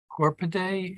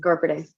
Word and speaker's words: Gorpade: Commissioner Corpade, is that my Yes, pronunciation? Gorpade. You nailed it.